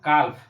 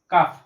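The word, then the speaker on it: calf: নট কালফ, কাফ।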